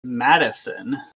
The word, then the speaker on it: Madison: Molly is saying that it's pronounced Madison.